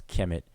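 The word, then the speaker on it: Kemet: a word that's also we would pronounce Kim it and transliterators KMT referring to Kim it in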